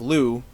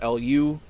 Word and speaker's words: Lou: narrator of that section, Lou is spelled L-U, and Jill always refers to Lou as Lou, L-U, using she, her pronouns. But other characters, people at school, Lou's parents, spell it L-O-U and use he, him pronouns.